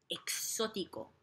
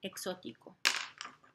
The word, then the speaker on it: exótico: Y un poco exótico. Un poco exótico. So, verde y exótico. I'm gonna write it over here. Exótico. Exótico. So, notice how there's an emphasis on that O.